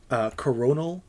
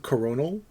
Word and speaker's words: Coronal: Coronal Council. CRO. Like it's spelled, Coronal Council. Like Corona with an L?